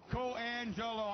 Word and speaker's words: Coangelo: I know, Johnny, it's four syllables, and you, Coangelo, I know.